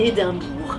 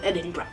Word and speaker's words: Edinburgh: pas et tu le dis vraiment à la française, tu dis Édimbourg. Et voilà, un écossais comprendra que tu veux parler de Edinburgh.